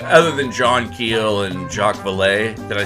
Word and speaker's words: Jacques Vallée: He's one of the first people who started drawing, other than John Keel and Jacques Vallée.